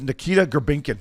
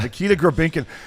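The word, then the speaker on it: Nikita Grebenkin: And his name is Nikita Grabinkin. That's how you say it. Nikita Grabinkin.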